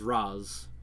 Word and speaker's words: Ra's: it's pronounced Raz.